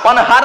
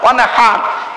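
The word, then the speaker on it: وانحر: ফাসাল্লি লিরাব্বিকা ওয়ানহার। কি বললাম? ফাসাল্লি লিরাব্বিকা ওয়ানহার। উচ্চারণটা ঠিক রাখুন, ওয়ানহার, ওয়ানহার নয়, ওয়ানহার। এই গলার ভেতর থেকে হে এটা উচ্চারণ করবেন।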